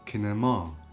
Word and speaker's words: kinema: Cinema means kinema, kinema. So the last R is stressed, kinema.